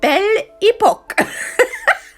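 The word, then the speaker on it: Belle Époque: It's Belle Epoque. I think it's how it just sounds funny. I had to Google how you pronounce it, and it's Belle Epoque.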